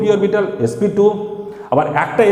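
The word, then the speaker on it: sp²: তাহলে এটা হবে কি, না sp2 স্কোয়ার নয়, আমরা উচ্চারণটা করব কি sp2।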